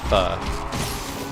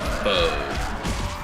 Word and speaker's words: pho: Pronounce that pho. I pronounce it pho.